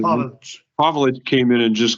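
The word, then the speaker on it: Pavelić: And then, how do you say, is it Pavelic or Pavelic, right? That's how you say it. Pavelic.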